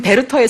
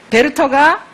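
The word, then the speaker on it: 베르터: 하는 사람 느끼는 젊은 베르테르의 슬픔 이라고 해요 왜 그럴까요 베르 터가 독일어 벡터 보다 좀더 가까운 발음 이어서 하니까 그래도 젊은 베르테르의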